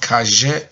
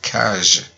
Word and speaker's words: cache: do you pronounce it not cashier but cash so if i repeat